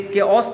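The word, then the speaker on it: chaos: इन द चेओस, देखिए लिखा हुआ है कंप्लीट डिसऑर्डर और कन्फ्यूजन, जिसे केओस कहा जाएगा, प्रोनाउंसिएशन उसकी ये की जाएगी।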